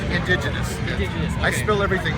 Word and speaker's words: Indiginus: me this is fantastic also how do you pronounce the name it's indigenous I spill everything wrong okay uh this is